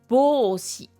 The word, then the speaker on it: ぼうし: Et là, on a bô, donc c'est un rô avec des ten tens qui donnent bô, un allongement e et shi, donc ça fait bôshi.